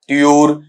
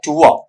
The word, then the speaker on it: tour: टूर या फिर क्या बोला जाता है आपका ट्यूर, जबकि बेटा दोनों ही गलत हैं। आपने सुना होगा, बसेस पे पढ़ा भी होगा, टूर एंड ट्रेवल्स या ट्यूर एंड ट्रेवल्स, ये गलत है। शुद्ध उच्चारण जब आप इसका उठाते हैं तो ये बनेगा आपका टुआ, ठीक है, टुआ, इस तरीके से पढ़ा जाएगा।